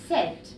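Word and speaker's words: sept: طبعا هنا ال P مش بتتنطق، مش بنقول سات نو، بنقول سات.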